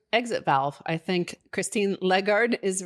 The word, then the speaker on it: Lagarde: native french speaker and he says that americans mispronounce it it's not christine lagarde it's christine legard so uh whatever but you know the fact